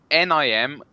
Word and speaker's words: Nimrook: I can spell it for you. It's NIMROOKGM. So it's Nimrook.